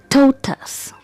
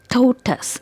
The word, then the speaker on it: tortoise: of this animal is totus totus and you see the stress is on the first syllable so it's totus totus